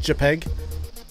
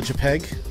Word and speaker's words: JPEG: save a peg a JPEG that's how it's pronounced by the way it's called JPEG you know much like much much like much